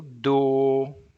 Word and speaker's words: dou: But it's just avô, the pronunciation. Next word, eu dou, eu dou.